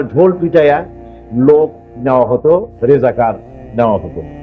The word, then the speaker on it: রাজাকার: রাজাকার তো শব্দটা রাজাকার। শব্দটা হচ্ছে রেজাকার। এখন এটাকে বাংলায় উচ্চারণ করতে গিয়ে বাংলায় এটা রাজা কার হয়ে গেছে।